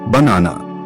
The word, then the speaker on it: banana: Banana, stress on the second syllable.